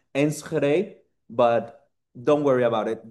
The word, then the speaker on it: Enschede: Um don't worry, I don't expect you to pronounce it correctly because it's a very Dutch pronunciation. So, it's pronounced Ensre, but don't worry about it.